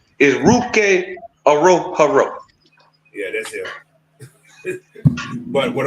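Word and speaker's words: Ruke Orhorhoro: they pronounced the name uh the the correct pronunciation is ruk AO Haro yeah that's him but what I'm saying they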